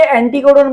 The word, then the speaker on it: অ্যান্টিকোডন: কোনটিকে অ্যান্টিকোডন বলা হয়? অ্যান্টিকোডন। অ্যান্টিকোডন কোনটাকে বলা হয় বলো তো? অ্যান্টিকোডন। দেখো অ্যান্টি কোনটা বেশি উচ্চারণ হচ্ছে ভাই? টি বেশি উচ্চারণ হচ্ছে, অ্যান্টি কোডন।